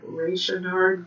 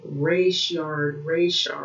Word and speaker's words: Rayshard: it um, over the Raynard case. I don't know if I'm saying his name correctly. So, okay. ATL ads. Yeah, okay, so I had to bring Rayshard, okay, because I didn't pronounce it correctly, so I didn't really look at his name.